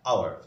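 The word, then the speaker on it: hour: যদি বলি I will return after an আওয়ার, তাহলে এখানে এইচ এর উচ্চারণ আমরা কিন্তু হাওয়ার বলি না, আমরা কি বলি এইচ ও ইয়ার, আর ঘন্টা, আওয়ার, মানে উচ্চারণটা শুরু হবে ও থেকে আর পর্যন্ত, এইচ বাদ যাচ্ছে।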